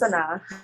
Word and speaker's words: Sanaa: Sanaa, I'm saying your name wrong, Sanaa, is that right? Yes, it's Sanaa.